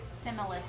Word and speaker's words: Simulus: Simulus. Simulus. Sinus. Is it Simulus or Simus? Simulus.